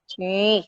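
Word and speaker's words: 鱼: Kalau dalam bahasa Mandarin, itu ikan itu kan yu dibacanya. Yu itu juga memiliki arti berkelimpahan. Jadi kelebihan, berlebih-lebihan. Nah, itu berlebihan itu berkelimpahan juga dibaca sebagai yu.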